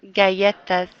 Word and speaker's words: galletas: Or the other pronunciation would be las galletas, las galletas.